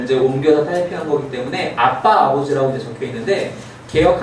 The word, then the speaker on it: 아빠: 옮겨서 타이핑한 거기 때문에 아빠 아버지라고 이제 적혀 있는데 개역 한글 성경을 보면 아바 아버지라고 적혀 있어요 물론 아빠란 발음이 좀 더 정확한 발음이에요 히브리어로 abb도 굳이 영어